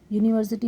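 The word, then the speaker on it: university: है इसलिए ए लगाएंगे यूनिवर्सिटी में य की आवाज निकल रही है लिखा तो यू है लेकिन लिख बोलते समय य की आवाज आ रही है इसलिए ए लगा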